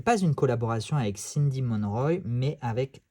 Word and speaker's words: Monroy: continue sa collaboration avec Cindy Monroy je pense que ça se prononce comme ça ou mon roi hein si on veut le prononcer à la française donc Aniel Reid et